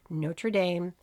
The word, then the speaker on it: Notre Dame: He was offered football scholarships from 75 different colleges, including legendary football powerhouses like Notre Dame, yeah, that's the American pronunciation, the University of Tennessee, and Boston College.